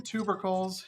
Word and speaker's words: tubercles: But yeah, skin tubercles is how I understand to pronounce that.